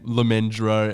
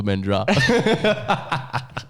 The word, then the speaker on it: Lemendra: We both said his name, Lemendro. And then after you said it wrong, he's like, it's actually Lemendra.